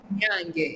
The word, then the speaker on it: Nyange: Pronounce it Nyange. Nyange, aha. So they say Nyange, Nyanje. So almost close.